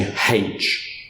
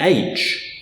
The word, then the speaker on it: aitch: So when I was growing up in Victoria, all around me people were saying haitch. The teachers didn't always like it, but everybody I knew said haitch. And in fact, even during my teenage years, all I ever heard in Victoria was haitch, whereas my relatives in New South Wales were always saying aitch.